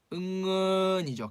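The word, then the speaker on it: เงิน: 응은이죠. 길게 장모음으로. 근데 왜 단모음에 넣어놨을까요? 이거 차용합니다. 한자 은에서 왔어요. 은. 즉 은에서 와서 이거 발음은 태국 사람들은 다 어떻게 한다? 응은 짧게 하셔야 돼요.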